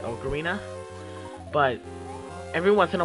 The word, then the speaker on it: Ocarina: it I don't know which way do you pronounce it like Ocarina or okarina I've always personally I pronounce it okarina but every once in